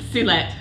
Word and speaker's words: Suelette: Suelette, give us a proper pronunciation. Suelette, hi.